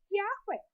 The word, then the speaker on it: Yahweh: Muitas pessoas dizem que este nome é impronunciável, mas isto não corresponde à verdade, porque pelas regras gramaticais da própria língua nós podemos ler Yahweh.